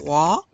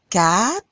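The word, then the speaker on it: quatre: 3, 4, it's sort of like you're saying cat, like a kitty cat, but you have a little bit of an R at the end. 4, 5, 6, 7.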